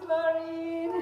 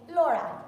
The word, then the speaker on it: Laura: Guys, this is Laurie. How do you say your name? Laura.